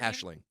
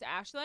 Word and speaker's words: Aisling: Ashling. Oh, it's Ashling. Yeah. Oh, I've just never said it out loud to anyone. It's a weird. It's spelt and it's an unusual name, but it's Ashling.